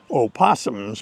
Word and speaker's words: opossum: North America don't call opossums by their correct name. One is it's less efficient. Opossum is a longer word. It takes more effort to say it than just possum. It's an extra syllable.